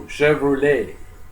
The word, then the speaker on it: Chevrolet: Well, what a lot of you guys don't know is the word Chevrolet is French. Lay in English is spelled L-A-Y, not L-E-T. So Chevrolet.